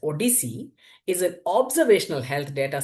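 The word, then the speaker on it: OHDSI: The ODC that's ODSI is pronounced as ODC is an observational health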